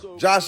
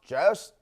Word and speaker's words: Jost: It's actually pronounced Jost. Like, take Joe Rogan, take out the Rogan, and just add the shh, and you get Jost.